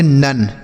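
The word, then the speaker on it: none: एन ओ एन ई इसे हम पढ़ेंगे नन।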